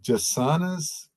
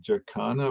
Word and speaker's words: jacana: the bird guide and they might pronounce it Jacana, but it's actually Jassana, and that's a CCD. Comes to us from indigenous languages of South America via Portuguese.